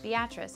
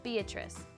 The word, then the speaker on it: Beatrice: 3 months later, the settlers named the town they founded Beatrice in honor of Judge Kinney's daughter. She had always asked people to pronounce her name that way instead of the more common Beatrice, just because she thought it was funny to cause confusion.